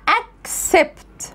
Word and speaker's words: accept: السي الاولى هنا جه بعدها سي، فهتتنطق السي الاولى هتبقى كي. طب والسي اللي جه بعدها ايه؟ هتبقى اس، فانا بقولها accept، accept.